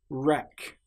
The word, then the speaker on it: wreck: Right. Wreck. This shows that the letter W is completely silent.